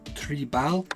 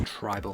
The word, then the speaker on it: Tribaal: review although the stick brand name is actually pronounced Tre Bal and come from an africani and Dutch word for tribal I will only mispronounce it and so I am going to keep referring to it as tribal hockey despite the longer stick I found it